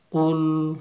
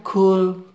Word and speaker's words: qul: Beda dengan kul. Nah, kalau kaf dia keluar udara. Bedanya dengan qaf ya. Kalau misalnya ini tertukar cara bacanya misalnya gini. Kul huwallahu ahad. Ada kulnya keluar udara ternyata. Itu dia akan lari menjadi huruf kaf nantinya.